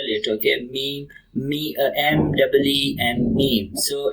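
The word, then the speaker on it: meem: You can spell it. Okay. Meme.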